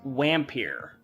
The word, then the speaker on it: Vampyr: example uh turns out the name of this game is actually pronounced wampir wait hang on i